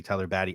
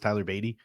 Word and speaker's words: Beatty: Dean pointed out to me that I was calling Tyler Beatty Tyler Batty. I know his name is pronounced Tyler Beatty. I just been calling him my Batty for so long that